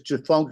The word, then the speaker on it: Tchefuncte: Yeah, just read what it's called without the T and the C at the beginning. It don't matter. What's the TC stand for? It's Tchefuncte River.